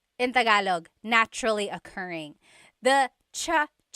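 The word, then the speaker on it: tsaa: that you drink and it's spelled TSA a cha cha that's such a talug spelling I love it there's the TS sound and then the double vowel uh pronunciation cha it's so talog yes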